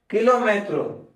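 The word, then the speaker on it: kilómetro: और किलोमेट्रो यानी किलोमीटर। ठीक है? तो वर्ड तो सेम ही है। प्रोनंसिएशन थोड़ी चेंज है। तो कर्मा को कार्मा। कराटे को कराटे और किलोमीटर को किलोमीट्रो किलोमीटो याद रखिएगा और हम इसी के साथ आगे बढ़ेंगे।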